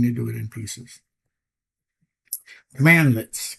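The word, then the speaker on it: cmdlet: Commandlets. Commands pronounced commandlets. Okay. C M A N and D lets uh are building PowerShell commands examples.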